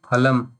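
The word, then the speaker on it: फलम्: So when you pronounce, only your two lips, Oshtau means two lips, only they should come in picture. Phalam. not other thing, phalam and tongue and all you do and make different sound.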